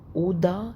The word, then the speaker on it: oder: oder يعني أو O D A A O D اللي هي O D E R oder، بس مش هننطق الار، هتبقى اوضة يعني او.